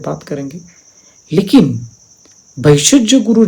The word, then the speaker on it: भैषज्य: उच्चारण थोड़ा अलग है, लेकिन हम एक संस्कृत से जाएं, संस्कृत उच्चारण से जाएं तो वैशज्य माने क्लेश है।